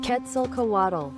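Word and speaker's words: Quetzalcoatl: Let me see if I can hear the pronunciation. Ketzel Kawatt. Yes, there you go. Ketzel Kowato.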